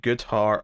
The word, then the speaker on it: Goodhart: All right, Batgirl issue 7, Tate Brombal writing with Isaac Goodhart on the art. And that rhymed because his name rhymes with art.